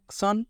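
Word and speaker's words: 천: কে বলা হয় সন সন কিভাবে হলো সিউতের সাথে অন এবং নিচে নিয়ন ন সন তাহলে টোটাল উচ্চারণ হলো সন সন আর এই সন মানে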